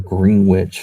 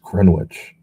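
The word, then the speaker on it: Greenwich: lives in a rich Grand Witch, Connecticut or Green Witch if you want to, you know, look at the spelling of it. It's spelled like Green Witch, but it's it's pronounced Grenwich.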